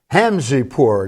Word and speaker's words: Hamzepour: Mohamed Hamzeh poor did I pronounce that right and yes Joe may I